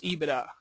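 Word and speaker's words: EBITDA: that's what they use they use eida that's ebi TDA I believe is how you say that um okay very important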